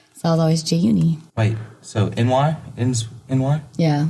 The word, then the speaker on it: Jaeyooni: Jaeyooni, because in Korea, people, when they say your name, they always add an extra syllable. So I was always Jaeyooni.